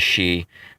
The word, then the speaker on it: Xi: I speak American in his name is she but anyway X I spells she apparently that guy could